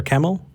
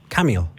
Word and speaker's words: Camille: Did I say it right? Camille or Camel? Yes. Which one? Camille.